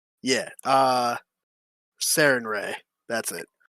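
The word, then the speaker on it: Sarenrae: I'm pronouncing that right? Serena. I know it. I know it. All right. Yeah. Sarinre. That's it. Sarinre.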